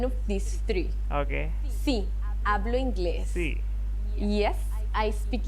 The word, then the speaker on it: hablo: earlier also we see the H is silent. So it's like not hablo, it's hablo.